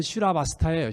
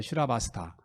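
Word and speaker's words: Śrāvastī: 이 사이국이란 말이, 사이성이란 말이 인도 말로는 슈라바스타예요. 슈라바스타. 또는 이제 시바티 이렇게 발음해요.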